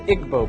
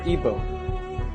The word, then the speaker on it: Igbo: nigeria you have the igbo people or igbo pronounced either way there's 40 million of